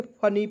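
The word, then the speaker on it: funny: याद रखना है दोस्तों अंतिम में यदि आपको वाई दिखेगा तो उसका उच्चारण बड़ी ई के रूप में करना है। तो देखिए इसका उच्चारण बड़ी ई के रूप में करेंगे ना जी।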